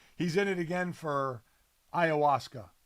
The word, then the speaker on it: ayahuasca: in it again for ayahuasca we think that's how we say it ayahuasca yeah that's how you say it or is that how you're just saying you're just saying it with with such like assuredness that that you're gonna that that's the right way to say it so it says